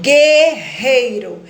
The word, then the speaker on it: Guerreiro: olho não foi pronunciado Guerreiro eu tenho dígrafo gueo porque o som do Uno não foi pronunciado e tem um dígrafo